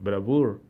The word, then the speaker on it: bravoure: La palabra para decir me llené de bravura, o de valor, o de energía, es bravure, así como lo oyen, bravure, en francés, se pronuncia más o menos bravoure, y quiere decir eso, justamente bravura o valor, de eso me llené.